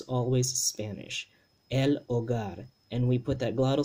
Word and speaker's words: hogar: there remember that h the letter h in spanish doesn't have a sound so this this aceh this ha right we we would like to say this ho gar right in english we